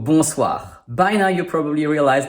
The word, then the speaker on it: Bonsoir: Good evening is in French Bonsoir Same story: 7 letters, 5 sounds, because we have two Digrams: ON for /on/ and OI for /wa/ S which is in the middle of a word and not between two vowels sounds like /ssss/ And finally the dreaded RRRR Bonsoir.